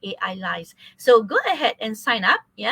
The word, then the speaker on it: Ailyze: So I was thinking, is it like Elise, or is it like Elise, the way you spell it, the way you pronounce it, but it's actually AI lies.